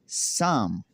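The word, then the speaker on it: psalm: Rule number 3 ये है कि अगर किसी लफ्ज़ में एन या एस से पहले पी आता है तो पी हमेशा साइलेंट रहता है।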